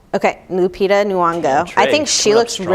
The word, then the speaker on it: Lupita Nyong'o: Lupita Nyong'o. Okay, Lupita Nyong'o.